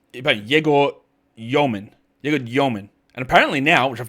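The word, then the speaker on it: Dëmin: So it's about Yegor Yoman. And apparently now, which I've got to actually make sure I'm doing now and writing his name, he's having an umlaut over the E in his name, which is a new thing.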